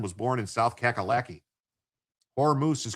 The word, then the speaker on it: Hormuz: Hormuz is correct. That's how I pronounce it.